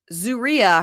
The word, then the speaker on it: Zeruiah: Zeruiah. We're on episode 8, and we just figured out how to say her name. So Zeruiah, I've written it down, ZOO-REE-UH, Zeruiah.